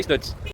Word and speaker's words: Stutz: Escreve estutos, mas pelo que eu vi a pronúncia correta é estantes.